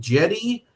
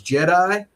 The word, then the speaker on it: Jedi: name, but I've confirmed it's Jedi, just like Return of the Jedi, I assume, and that kind of thing.